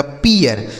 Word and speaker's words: pear: ठीक है, आगे PEAR, तो P से हो गया प, इस EA का उच्चारण ई, आर से हो गया र, लिखा गया पियर।